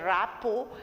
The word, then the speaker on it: rapport: That is, always try to build a rapport. O-R-T is silent here.